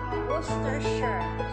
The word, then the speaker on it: Worcestershire: So, Worcestershire. Iyon yung pa-pronounce natin sa atin, ba? Ang pag-bigkas pala, hindi gano'n na. Worcestershire sauce.